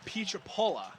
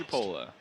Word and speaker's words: Pietropola: And sorry, Mike, that's Mike Pietropola. That's how it's pronounced. Pietropola.